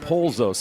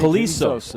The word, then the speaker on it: Polisos: I wrote Polzos. That's why I'm saying it wrong. It's Yeah, Polisos. Now I got it.